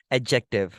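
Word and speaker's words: adjective: पढ़ते हैं की एडजेक्टिव बट डी दे इसे ऑलमोस्ट साइलेंट लाइक अब इसको साउंड नहीं करते आप सिंपली ये बोलते हो एडजेक्टिव ठीक है इसके अब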